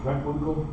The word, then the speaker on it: Preckwinkle: I'm going to pronounce her name correctly in this episode. Preckwinkle.